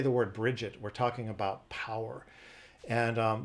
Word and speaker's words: Brigid: And you know, her name, Bridget, there's several ways to pronounce it. Sometimes it's pronounced Bridget. That's kind of the most common, kind of in the Western world or in America. But she can also be pronounced Brija or Brija or Bria, or sometimes even Brig, which isn't really that common.